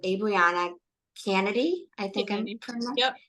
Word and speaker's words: Canady: I think I'm Canady. Yep.